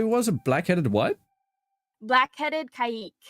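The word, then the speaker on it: caique: did you say was a black-headed what black-headed kaik it's spelled c-a-i-q-u-e oh i see yeah cse just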